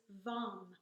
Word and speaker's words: vam: For this one, we're going to use LAM, and the second chakra mantra is VAM, V-A-M.